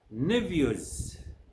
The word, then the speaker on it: nephews: Nephews, Stephen. As you can see, the PH in both words is pronounced a.